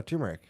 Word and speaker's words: turmeric: No, turmeric. It's It's like a root. spice. It's a root. Yeah. What? But it's with an R? Turmeric. It's got an R?